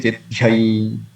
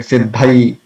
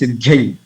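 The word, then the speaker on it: सिद्ध्यै: Nekunja, you know, Ratikeli Siddhyai. So sometimes because of some other native language influence, we said Siddhai. The Prabhupada also say Siddhai. So, but the correct pronunciation is Siddhyai.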